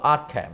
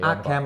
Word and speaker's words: Arkham: 咦，正喎！有師兄嘅糾正話嗰個 H 唔發音啊。應該到 Arkham 咪 Arkham 嚟，喂，thank you，係係啦，咁啊真係睇翻只嘢啦，外盒，呢個你係專家啦，冇咩好評啦，呢啲天地蓋咯，咁啊都叫做花紋紙噶，摸上手都幾硬淨，好坦白講，我都有啲手感嘅，係花紋紙嚟嘅，印得都幾靚嘅，咁啊係啦，好啦，好咁啊拎走佢啦，內餡咁啊可以都縮翻近少少啦，咁啊見到其實架撐咧。都唔少嘅，因為真係跟翻個 game 咧，又追擊槍啊，又兩支槍啊，又軍刀啊，等等等等等，俾曬你，俾曬你之餘，再有一堆造型手，我擺得比較亂啊，因為佢真係都想擺曬喺個台面咧，都有少少困難，同埋我驚撞底啊，咁啊，大家將就少少望一望啦。